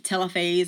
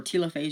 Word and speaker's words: telophase: last phase of mitosis is telophase or telophase. You'll hear it pronounced either way.